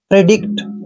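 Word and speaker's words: predict: प्री क्या हो गया प्री डी का उच्चारण दोस्तों हम ड करते हैं और आई को ई की मात्रा पढ़ते हैं सी का उच्चारण हमने आधा क करना है और टी को ट पढ़ना है प्रिडिक्ट दोस्तों प्रिडिक्ट का मतलब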